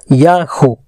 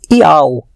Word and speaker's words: Yah: Em hebraico aparece Yahu. E de fato temos a pronúncia Yah e não Iau, como eles ensinam, tá?